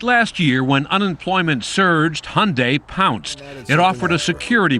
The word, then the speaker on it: Hyundai: It's Hyundai, like Sunday. We hear Hyundai, Hyundai. Even my mom mispronounces it, unfortunately.